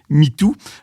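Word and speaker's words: 米兔: et de lapin et riz lapin ça se prononce Mitou en chinois ou alors ils vont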